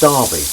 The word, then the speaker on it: Derby: yes so this is this is better it's pronounced Derby thank you very much cuz I live in